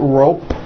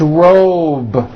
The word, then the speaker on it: robe: It's not rope with an unvoiced P, it's robe.